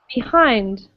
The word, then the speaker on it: behind: okay so um so a way to sort of think about it is to stress both syllables so imagine we stress the first syllable it would sound like behind behind right and that's not what we say in english we stress the second syllable and say behind behind or behind again if there's an e